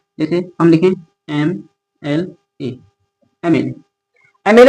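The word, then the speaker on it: MLA: लेकिन इसका प्रोनंसिएशन क्या है? एम ए और म क्या है? एम यानी कि ए है। तो ए हमारा हिंदी वर्णमाला का स्वर है। यानी कि वोवेल है।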